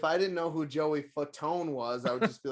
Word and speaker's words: Fatone: Yeah, his name is Joey Fat One. No way, dude. It is. It's Fat One. Why is that his last name? How did we just buy that pronunciation for our whole life? He was just like Fatone, and everybody's like, sounds good.